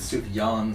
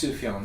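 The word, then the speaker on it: Sufjan: I'm saying it wrong is it suf John Stevens or is it Su Yan Stevens I believe it's sufan Stevens all right sufan Stevens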